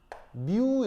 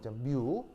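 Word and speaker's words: μ: 쓴 건데 읽을 때 어떻게 읽냐면요 뮤 이렇게 읽으시면 돼요 뮤 영어 아니고 그리스어 알파벳인데 읽을 때 뮤라고 읽으시면 됩니다 완전 추운데 안되겠다 가연아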